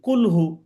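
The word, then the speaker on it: كل: আর যদি আমরা এই স্বাভাবিকভাবে কাফ দিয়ে বলি কাফ পেশ কু এটা যদি বলি তাহলে মানে কুল কুল যদি আমরা বলি কুলহু অথবা কুল আউজুবি রব্বিন্নাস ফালাক ইত্যাদি কইয়া কাফিরুন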